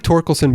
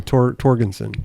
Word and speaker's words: Torkelson: I like Torkelson better than Torgensen. See, I'm saying it wrong already.